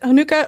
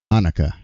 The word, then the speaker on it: Hanukkah: Hanukkah. It's the wrong U sound. It's a short U, not a long U.